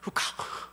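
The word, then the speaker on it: חוקה: 후카, 라는 히브리 말입니다. 이 해 맨 뒤에 나오는 H 발음은 목소리가 들어가는 그런 소리입니다. 그래서 후카 이렇게 발음을 해야 됩니다.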